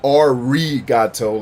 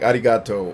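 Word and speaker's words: ありがとう: letter that's in arigato, where it's not arigato like an Anglo-Saxon would say. It's almost like a D sound, like arigato, or like when you roll your R's in Spanish, it's like just one of those rolled R's, like arigato, like Rio, Rio, Rio.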